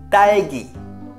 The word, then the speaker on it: 딸기: 딸기. Au milieu là, le que, c'est un G en fait. 딸기.